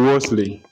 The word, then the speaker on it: Wolsey: Okay, now Wesley. Wesley is spelled W-O-S-L-E-Y.